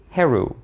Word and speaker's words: Heru: start of this video I pronounce the name of the ancient Egyptian god the ancient Egyptian version of the name of the god Horus as heru but the thing is